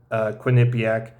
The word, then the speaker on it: Quinnipiac: I think I'm pronouncing that right. Quinnipiac.